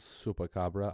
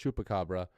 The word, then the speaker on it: Chupacabra: For our champions, Zupacabra. I should say Chupacabra. Apparently it's pronounced Chupacabra, not Zupacabra.